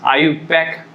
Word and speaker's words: IUPAC: And second system, which is very important one, that is IUPAC name system, but this is pronounced as IUPAC name system.